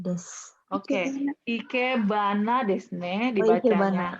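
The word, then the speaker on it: 生け花: Oke, ikebana desu ne Ikebana. dibacanya. Haknya kalau ditambah dengan kata sebelumnya itu jadi haknya tuh jadi huruf kotor ya. Jadi kalau kita bilang ba gitu, ikebana jadinya.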